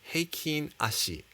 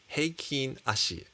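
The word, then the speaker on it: Heikin-Ashi: left of the candles i have heiken ashi and yes that's actually how you pronounce it heikin ashi this is again japanese and the difference between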